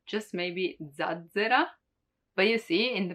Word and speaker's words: zazzera: Also because there are not many with double Z, just maybe zazzera. But you see, in the pronunciation, you can't really understand the difference.